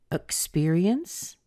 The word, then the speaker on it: experience: Spear part right here so the first syllable the e it can be pronounced as a schwa and that's what we're